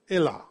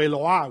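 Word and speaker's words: אלה: Elah is Aleph Lamed Hey, Elah, or Eloah, we say sometimes.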